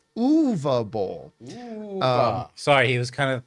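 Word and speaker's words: Uwe Boll: comparison by the way the proper pronunciations of his name is UA B UA Bowl sorry he was kind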